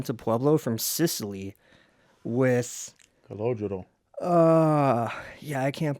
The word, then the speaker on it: Calogero: Calogero. Yeah, I can't pronounce this name, but... Calogero.